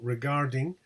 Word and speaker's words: regarding: For example, regarding is always stressed on the second syllable.